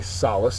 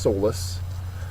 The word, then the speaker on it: solace: word is Solace okay Solace is not pronounced soless uh it is a noun and a verb first syllables accented they're both very similar